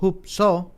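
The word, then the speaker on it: ὑψόω: La palabra exaltar, dice aquí, del griego hupso o hupso, con acento en la O, denota levantar o elevar en el sentido de elevar a una persona, otorgándole una mayor dignidad o categoría.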